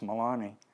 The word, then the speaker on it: Melanie: these a woman named her name is spelled Melanie but it's pronounced Milani and then AED who